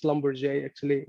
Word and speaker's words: Schlumberger: SG: Yeah, actually, well, I am no longer with Schlumberger. And, it's pronounced Schlumberger actually. It's a French name.